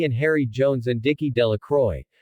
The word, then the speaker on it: Delacroix: Harry Jones and Dickie De La Croix the villagers pronounced this name delacroix eventually made a great